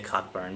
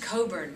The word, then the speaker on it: Cockburn: I believe it's Olivia Cockburn, become Olivia Wilde? What was the... It's funny, it's pronounced Coburn, which I know sounds really strange. Okay, so I'm the idiot that just said Cockburn.